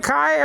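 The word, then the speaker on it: καί: And Greek or Kai, nowadays pronounced K in modern Greek.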